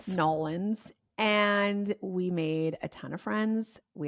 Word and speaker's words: New Orleans: Then we took our asses to New Orleans, where I learned how to pronounce the state or the city's name. Nolans.